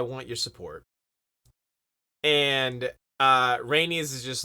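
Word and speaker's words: Rhaenys: between Allison and uh rainey's I think I always say her name wrong uh that was that was right well that time I did I called her like renarius or something earlier I'm pretty sure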